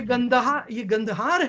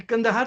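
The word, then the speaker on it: कंधार: ये गंदहार है, ये कंदहार तो मिस प्रोनाउंसिएशन है।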